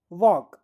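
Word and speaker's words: walk: Palm could वॉक। फिर से पढ़ें। Palm could वॉक। देखें। यहां पर हम पाम पढ़ रहे हैं तो एल साइलेंट लेटर है। कुड पढ़ रहे हैं एल साइलेंट लेटर है।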